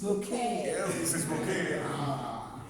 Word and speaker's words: Bucket: No, her name is Bucket. Okay. But she calls herself Mrs. Mrs. Bouquet.